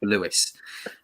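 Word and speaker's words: Lewes: i lose in what i say lose but everything apparently pronounced lewis oh louis fc yeah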